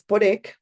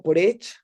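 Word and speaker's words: Poreč: Entonces, la última parada, digamos, en este circuito de los tres pueblos es Porek o Porech, dependiendo pues cómo se pronuncie, si en español o en el croata mal de Juliana, que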